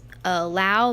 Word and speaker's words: Lau: So the last name is Lau, but a lot of people pronounce it, but since we're Southern, we just say Lau.